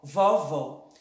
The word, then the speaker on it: vovó: o leque presta atenção vó acento agudo ó vovó vovó o acento circunflexo vovó aberto vovô fechado o ó e vovó